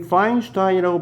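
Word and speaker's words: Feinstein: 자,이 파인슈타인이라고 발음되는 건 요게 좀 독일 계통인데요.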